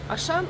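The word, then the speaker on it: Auchan: здесь распространённая сеть магазинов это он как пишется Он но звучит по-французски он потом клерк и ну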